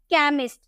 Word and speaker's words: chemist: उसी तरह से CHEMIST, सी के बाद आपको एच देखने को मिला तो इसे हम क में प्रोनाउंस किए केमिस्ट।